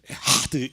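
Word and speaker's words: אחד: 한 볼까요 히브리어 시작 에하는 부드럽게 희 발음을내는게 아니라 가래가 끌듯이 에하드 뭐 이런식으로 하는 거예요 우리 다시 한번 해볼까요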